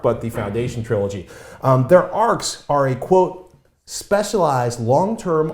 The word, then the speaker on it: Arch: fascinated by the arc spelled arch pronounced arc and the whole idea